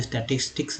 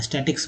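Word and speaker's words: statistics: स्टैटिस्टिक्स तोड़ के पढ़ेंगे तो अच्छा है, स्टैटिक्स बोलते हैं लोग, शॉर्ट में स्टैट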